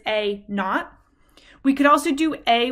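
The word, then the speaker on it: A naught: prefer is we say a not that is pronounced a not and I believe it's spelled a n a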